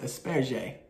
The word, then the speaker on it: asperge: For example, in French, it's pronounced asperge.